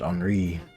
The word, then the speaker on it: Henri: That's how you say my name in French, Henri.